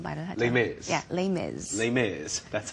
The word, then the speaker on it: Les Mis: Yes, Les Mis. The Les Mis. Uh-huh. 레미레자를 영어로 그렇게 발음하면 하더라고요. Les Mis 그냥 줄여서 말을 하죠. Les Mis. Yeah, Les Mis.